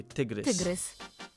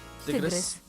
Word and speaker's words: tygrys: Okay, tygrys. Tygrys. Sounds like take a look at this.